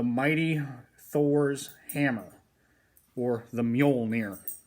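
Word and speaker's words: Mjölnir: The Volcanic peppers, the mighty Thor's hammer, or the Mjolnir, how it's pronounced.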